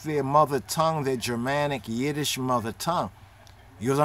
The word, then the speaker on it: Yiddish: hebrew is not yiddish yiddish is not yedish yiddish hebrew as what people